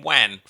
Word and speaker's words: Juan: Hurricane Juan.